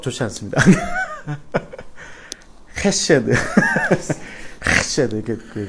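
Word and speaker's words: חסד: 헤세드. 그런데 원래 발음은 헤세드입니다.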